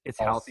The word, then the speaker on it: Halsey: he's the big I never know how to pronounce his first name. I want to say Halsey. Halsey. It's Halsey Halsey.